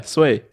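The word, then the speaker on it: Swae Lee: how do you say sway Lee sway is that yeah that's an e what wait how do you spell it it spelled SW AE yeah sway ha ha and number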